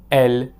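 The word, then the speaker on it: elles: Their pronunciation is as same as the singular il and elle have.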